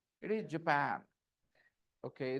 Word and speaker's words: Japan: is not it is Japan okay the stress is on the second syllable copy my rhythm Japan easy Japan and next